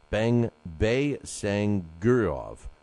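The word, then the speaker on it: Baysangurov: Bey-Sangurov is how you pronounce it.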